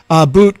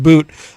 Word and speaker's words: Bout: Boot it's spelled Bout, but I think it's actually pronounced Boot, could return to arms trafficking after Griner exchange.